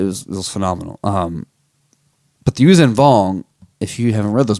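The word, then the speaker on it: Yuuzhan Vong: you didn't read the usen vong and that's how I'm pronouncing it I don't know if it's really how to pronounce they were this it's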